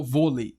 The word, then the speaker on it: vôlei: Se for hã se for vôlei volei v o lei. Vou acentuar ou não vou? Vôlei. Exercício aqui. Vôlei é uma paroxítona ou uma oxítona?